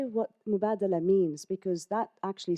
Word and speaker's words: Mubadala: we've heard you know ten versions of the pronunciation but Mubadala and arabic action means exchange so and that